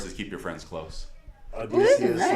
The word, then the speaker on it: Odysseus: I'm Come ready on, for it was like Odysseus. Odysseus. That shit was hard as fuck. No, like, no. I didn't know what they were saying at first because they say it like O-E-A-U, O-E-A-U. Like, I didn't know they were saying Odysseus.